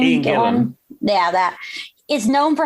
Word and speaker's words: Gillan: Ian Gillan.